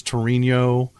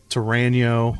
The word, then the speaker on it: Torano: I can't even pronounce it wrong. CAO was Cal, Yeah. KO. Yeah. And then Torano was Torino, Torano.